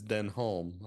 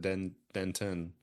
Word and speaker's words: Denholm Elliott: It's Denholm. I think I said Denton.